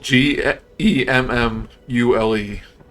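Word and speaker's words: gemmule: do you spell it does it look like Samuel or like module g e m m u l e gemu okay gem mule yeah like between a gem and a jewel a mule I was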